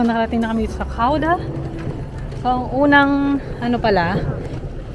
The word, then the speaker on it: Gouda: So nakarating na kami dito sa Kauda.